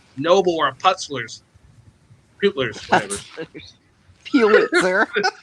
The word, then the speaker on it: Pulitzer: Pulitzer. Pulitzer! God damn it. Putzler.